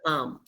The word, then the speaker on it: palm: pal this is the Palm this is the Palm so the palm of our hands okay the